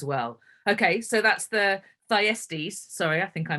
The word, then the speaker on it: Thyestes: the race as well okay so that's the thyestes sorry i think i mispronounced it earlier uh let's talk about the